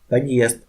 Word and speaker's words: подъезд: Examples: подъезд, подъезд, де, подъезд, де, подъезд. Here is a vowel that make a consonant soft, but we must read de solid because of solid sign. Don't d.